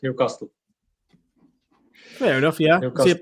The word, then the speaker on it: Newcastle: Yeah, because he was saying everybody in Newcastle says Newcastle. Brandon, how do you say Newcastle? Me? Newcastle. Just like Carl, how do you say it, Carl? Pardon? How do you say it? Newcastle. Yeah, it's more better. Whereas I think it's more of a London thing, isn't it? Where they go Newcastle.